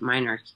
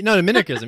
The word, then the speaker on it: minarchism: Would you rebut minarchism? And if so, how and why? Saying that word right, or is it minarchy? No, minarchism. Yeah, I think that's how you say it.